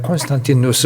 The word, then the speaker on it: 콘스탄티누스: 영어식 발음으로는 콘스탄틴이라고 하고, 그리고 로마식 발음을 하게 되면 콘스탄티누스 황제 이렇게 말하죠. 그리고 395년인가요?